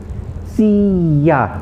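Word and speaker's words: silla: means south sur and then we have see see ya remember the double l's are pronounced yeas in spanish and not l okay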